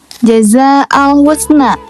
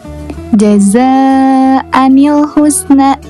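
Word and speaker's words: جَزَاءً الْحُسْنَىٰ: Nah, contoh dari nun wiqayah adalah sebagaimana yang tertera di layar yaitu jaza alhusna. Nah, kata jaza alhusna ini tidak dibaca jazaal husna melainkan jazaanil husna.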